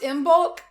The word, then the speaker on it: Imbolc: Yeah, it's like imbulk, but but I pronounce it with a G.